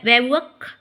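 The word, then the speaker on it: bivouac: मतलब होता है पड़ाव इसमें जो है लास्ट में सी को मैंने काट दिया है वो सी नहीं है बी आई वी ओ यू ए सी ये वर्ड बहुत इंपॉर्टेंट है।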